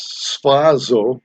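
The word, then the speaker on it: σφάζω: word for kill in the greek is spazzo i thought i guess that's how i pronounced s-p-h-a-z-o when it's put into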